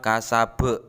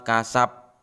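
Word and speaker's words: كسب: Cara membacanya kuat. Perhatikan. Ma aghna anhu maluhu wa ma kasab. Jelas, baknya memantul. Bukan ma aghna anhu maluhu wa ma kasab.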